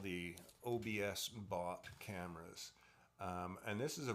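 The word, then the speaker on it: OBSBOT: Again, it's by OBS BOT, which I guess is pronounced OBS bot.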